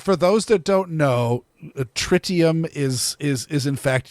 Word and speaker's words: tritium: the US pronunciation is tritium um I believe it's maybe French I don't remember now but it is some some languages do make it sound like tree you know tritium I